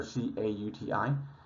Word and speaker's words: CAUTI: I'm pronouncing that the way so you can know that there's the letter C-A-U-T-I. CAUTI is the way it's pronounced. You'll hear people pronounce it Katie for some reason.